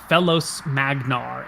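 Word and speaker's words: Felos Magnar: make any sense but they spell out if you were to pronounce it something like fellos magnar f e l o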